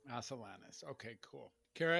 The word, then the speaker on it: Asilanis: thank you thanks Cara Asus thank you let me say your name I I don't want to say it wrong is it how do we say the last name again as salanus as salanus okay cool Cara it's